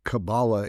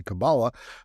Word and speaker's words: Kabbalah: And while tarot's the Kabbalah, and I pronounce them differently because Hermetic Kabbalah is very different, and that's what they say, Kabbalah. But in Judaism, you pronounce it Kabbalah. That's the Hebrew pronunciation.